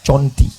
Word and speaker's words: Cerenti: Tulisannya sahabat-sahabatku di seluruh dunia yang streaming, cari di Google Cerenti. Cara membacanya Conti.